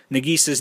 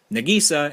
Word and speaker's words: Nagisa: be aware that it's going to be pronounced nagisa and not nagisa and so i mean